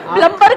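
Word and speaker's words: plumber: हो सकता है सर उसको खुद ही नहीं पता कि बी साइलेंट है।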